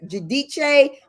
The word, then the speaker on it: Giudice: It was Giudice. Well, at first it was Judice. Judah, but then she wanted to make sure it sounded Italian. So she says Giudice, but she's no longer Giudice.